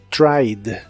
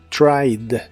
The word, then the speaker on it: tried: el pasado es tried en este caso no pronuncias la e solo la d del final tried tried y lo puedes usar